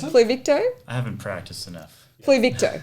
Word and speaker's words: Pluvicto: Can you pronounce it? Pluvicto. I haven't practiced enough. Pluvicto. That's Pluvicto.